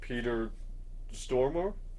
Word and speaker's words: Stormare: Lucifer from Constantine, played by Peter Stormare. Yeah. Is that how you pronounce his name?